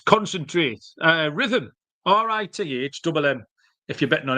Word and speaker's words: Rithmm: Start a free 7-day trial and start winning your NBA player props with Rhythm, available wherever you get your reps. That is spelled RITHMM.